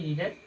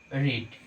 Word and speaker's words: read: তাহলে V1 মানে হচ্ছে কি প্রেজেন্ট ফর্ম, মানে হচ্ছে প্রেজেন্ট ফর্ম কি রিডের রিড, পাস্ট ফর্ম রিডের কি রেড। বানান একই কিন্তু উচ্চারণটা শুধু আলাদা।